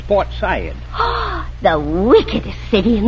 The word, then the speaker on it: Port Said: himalayas now yes and you don't say port said it's portside ah the wickedest city